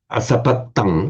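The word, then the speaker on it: asapattaṃ: Asapatang, with a distinct double T.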